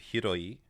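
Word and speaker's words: 広い: This one is Hiro, and it is in the adjective hiroi, which means like large or vast.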